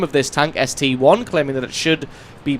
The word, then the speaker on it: ST-I: I'm not saying that it's not an I, it is indeed an I, but in this case, the I denotes the mark or the model number rather than being an actual letter.